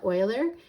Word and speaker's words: Euler: a little historical note on Leonard Euler you pronounce that Euler he is a mathematician that gave us function